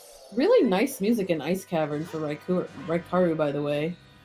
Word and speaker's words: Raikaru: His name's pronounced Raikaru. I mean, he answers to Raikuru as well.